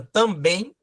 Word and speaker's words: também: o uso da palavra também. Ou seja, são oxítonas terminadas em. Quando você separa a palavra também, você tem uma oxítona, uma palavra oxítona. Porque a sílaba tônica está na última sílaba.